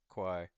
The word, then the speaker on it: Quai: Um, and then he says, uh, it saysqi pronouncedq or something like it. It's it's chi. Um, yeah. Q QY quai.